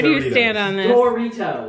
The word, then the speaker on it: Doritos: Doritos. It's spelled D-O, not D-A, not D-E. Who said that? D-O. Doritos. Brooke says Doritos. It's Doritos. No. Jack, where do you stand on this? Doritos.